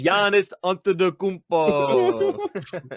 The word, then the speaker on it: Giannis Antetokounmpo: It's Giannis Antetokounmpo. There we go. Excellent. There's our pronunciation right there.